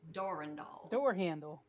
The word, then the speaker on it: Durandal: the line doll Randall the way you're supposed to pronounce it it's actually French what was that again no it's it's Doran doll door handle all right